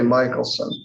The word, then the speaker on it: Michelson: And this is just, and depending on how you say it, Michelson, I say Michelson. Yeah, you pronounce it right.